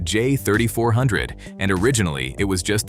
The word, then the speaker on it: J3400: Officially, it's SAEJ 3400, pronounced J3400, and originally it was just the Tesla connector.